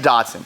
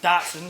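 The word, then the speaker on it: Datsun: You like the Dodson. Datson. Is that how you pronounce it? Yeah, that's how I pronounce I like I like this.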